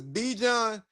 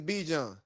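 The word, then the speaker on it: Bijan: You know good and damn well anybody's name who is Be John is if your name is spelled B I J A N, your name is Be John.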